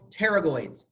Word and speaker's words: pterygoid: the medial and lateral pterygoid this is a really interesting word the P is silent like in pterodactyl Tarot I'm not much